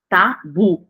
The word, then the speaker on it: tabu: não tem acento tá Tabu tá bu bu é o mais forte aí Mas aqui é